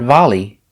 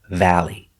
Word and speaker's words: valley: our next word valley remember the sound like apple valley not volley not volley but valley valley is the area